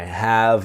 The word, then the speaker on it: have: The e is silent. So it's have.